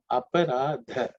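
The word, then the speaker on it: अपराध: In terms of pronunciation, aparadha. The is the 4th letter in the third varga, so it has to be aspirated.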